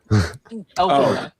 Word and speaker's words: Elphaba: We gotta talk about that pronunciation. Elphaba.